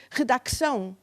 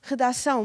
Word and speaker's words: redacção: Por exemplo, caírem as consoantes mudas, que não se pronunciam. Ninguém aliás, há muitos anos que ninguém pensa, ou ninguém diz redacção. Nós dizíamos redação, mas escrevíamos Mas eu dizia, redacção.